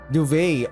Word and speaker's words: duvet: Pronunciation. Duvet.